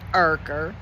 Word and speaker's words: Urker: Well guys, I guess now all we can do is see what Ken Urker and I'm sorry it's not you because that's not the way you spell it. It's Urker.